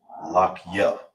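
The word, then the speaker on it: לחי: So how you pronounce it together is lock ya.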